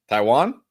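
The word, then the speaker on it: Taijuan: I don't know how you pronounce this first. Taiwan. Like the country. Taiwan.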